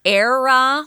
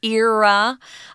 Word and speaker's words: era: It has two pronunciations. You can say era, like air that we breathe, or era. They're both correct.